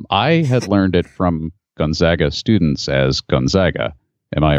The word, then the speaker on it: Gonzaga: ironically you guys mispronounced gonzaga the university the connects correct pronunciation of the first a is a long a i live in spokane